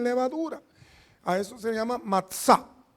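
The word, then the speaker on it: מצה: A eso se llama matzá. Matzá, así se pronuncia, matzá.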